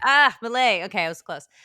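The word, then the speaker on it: Milei: name Javier M ah mle okay I was close one rhymes with filet like f okay I won't forget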